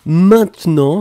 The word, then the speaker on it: maintenant: Effectivement, nous étions à la recherche de « maintenant ». Souvenez-vous, on ne prononce pas vraiment le « e »,« maintenant ».